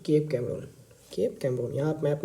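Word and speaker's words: Comorin: Southern most point of India is cap Cameroon, cap कैमरिन, आई am sorry to pronounce cap कैमरिन।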